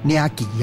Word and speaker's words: 領寄: 来讲叫做领架嘛。对。不过伊虽然字安尼写不离个因当地发音是讲领旗哦。